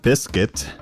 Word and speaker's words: Bisket: on uh yeah so you befriend um uh biscuit which is how you will now lovingly refer to him it's spelled b i s k i t all